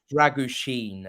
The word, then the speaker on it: Drăgușin: out that' be helpful it's more like druen apparently it's a sh sound oh Mr Sheen dren